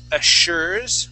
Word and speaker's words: assures: All right, let's take a look at assures. Where did assures go? She assures. Assures. Uh-huh. Yeah, so not assures, but assure. With that double S would be an, here it is. Yeah, an SH sound.